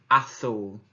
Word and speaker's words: azul: Now you might be sat there thinking it's azul, but actually, if we think back to when we pronounce the word dieth, the z was a th in Spanish. So it's azul.